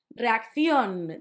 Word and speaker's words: reacción: Reacción, that's similar to English, reaction. You had the accent at the end.